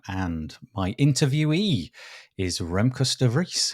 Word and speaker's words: de Vries: So it depends. The Dutch in general will say de Vries. Oh, I really butchered it. Okay. But I will pronounce it as de Vries.